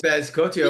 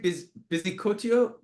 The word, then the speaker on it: Bizcocho: Oh, ooh, It is Galavaro versus Matraca for yes, Bezcocho yes, by, am I pronouncing that right? Bizcocho yeah, by yeah, yeah.